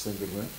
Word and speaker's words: Sangreman: os Povos, e Carlos Sanderman, se é assim que se pode dizer. Isso vem da pronúncia de... Francesa, vem da palavra Saint-Germain. Saint-Germain. Curiosamente tem um bom clube de futebol.